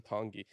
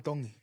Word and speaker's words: Tongi: Iam Tongi. So it's almost like a D. Yeah, kind of. It's like an in between a D and a T.